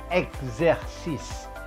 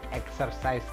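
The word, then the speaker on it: exercice: exercise tapi expert fitur dan salah bacanya adalah XZ Sis eksis bukan exercise XZ Sis di bahasa Perancis kenapa2 tuh begitu karena IX itu gujar ada s1s ditengah2 huruf hidup itu menjadi Z nah kemudian ini xx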